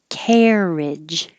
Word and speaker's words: carriage: Carriage. Same vowel air. Carriage. Marriage. I put this because this is spelled with like a lot of vowels, but we only have airage.